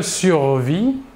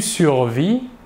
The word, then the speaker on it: survis: Le S et le T final de la terminaison ne se prononcent pas, mais s'écrivent.